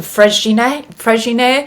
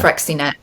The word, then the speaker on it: Freixenet: is the, and I know I'm going to pronounce this wrong, it's the Freixenet. I Oh would say yeah. Freixenet. So I I call it love that. Frexinet, but yeah, Freixenet, Yeah, yeah.